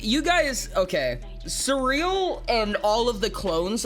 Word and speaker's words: Surreal: Uh, it's it's it's pronounced like s u r r e a l. Like surreal. Like having a surreal experience.